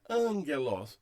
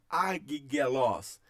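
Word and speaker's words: ἄγγελος: Então a palavra é lida angelos, não é lida como agigelos, agigelos. Ah, eu não posso ler agigelos? Não, porque é uma regra. Quando um gama vier antes de um outro gama, tá? O primeiro gama recebe o som de N, então é angelos.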